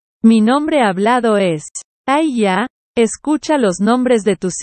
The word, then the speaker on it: HAYAH: la bendición de aarón se pronuncia mi nombre con solo dos sílabas a ella yo soy el único